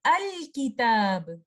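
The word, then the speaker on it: الكتاب: lam sakhina hamzat revossel to pronounce the lam sakhina it will become al-kitab so this islam where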